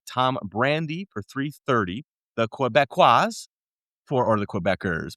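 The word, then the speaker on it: Québécois: The Quebecois or the Quebecers, but if you're saying it in the native Quebecos, absolutely. Quebecois. So there you go, bro. I'm not lying about that. That's how you say it.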